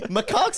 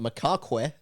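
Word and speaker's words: macaque: Macak's in the jungle usually.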